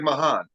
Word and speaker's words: Mahan: Yeah, it's like it's spelled. It's like Mahan.